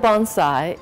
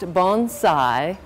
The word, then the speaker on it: bonsai: at the New York Botanical Garden the word Bonsai is a Japanese word and it is pronounced Bonsai not Bonsai and it means a tree in